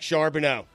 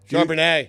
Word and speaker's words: Charbonnet: I feel fancy every time I say the name Zach Charbonneau. Put it on the poll, please, at Le Batard Show. Did you say it right? Charbonnet. Charbonnet. That's right. Do Yeah.